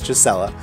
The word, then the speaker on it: Gisela: It's not just sounded out G-A-C-3-L-H. It's Gisela, or like Giselle, like a gazelle.